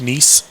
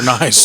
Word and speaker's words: Nice: Nice. It Nice? looks like nice. It's spelled nice, N-I-C-E.